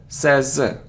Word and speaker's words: says: isn't SAS no SS it's like say but he she it says but not says says say says he says it's a very common mistake